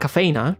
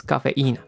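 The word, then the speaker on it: cafeína: You know, coffee has caffeine because it has a tilt on the eye. That's the strongest syllable. So, it's cafe. It's not cafina, it's cafeina.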